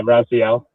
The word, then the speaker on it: Raziel: Hey, did I pronounce that right? I'm so sorry if I Hello. didn't. Yeah, Raziel.